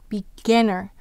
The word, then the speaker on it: beginner: Where's the accent? Beginner. It's on gin.